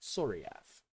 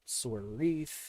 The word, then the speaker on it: Soriaf: is the soriaf server it's pronounced soriaf i know a lot of people have called it sword wreath and things like that but no it's soria that is a homebrew